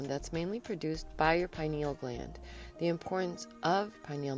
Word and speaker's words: pineal: system and it secretes the hormone melatonin your penal gland's main job is to help control the